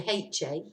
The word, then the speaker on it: ha: So the first a is actually HA, he has met. But remember, we don't pronounce the H.